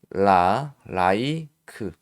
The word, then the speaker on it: like: 이것도 뒤에 이가 왔죠? 그래서 이 i가 I 그대로 발음이 돼요. 그래서 L은 리을이니까 라이크, 케이크, 그 e는 발음이 안 돼. like 이렇게 발음이 되는 거고 그리고 또 예를 들어서 made 자 이렇게 했죠.